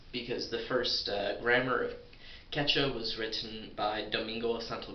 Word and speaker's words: Quechua: about the language Quechua, which is, I think, pronounced Quecha because the Q's are far deeper down the throat than in regular, in other similar languages, and there is no equivalent in the English.